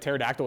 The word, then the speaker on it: pterodactyl: Did you ever think that someone was like, the original pronunciation of like pterodactyl was pterodactyl, and someone was like, this is stupid, I'm just gonna call it pterodactyl? Oh, 100%. Yeah, then why not drop the P too?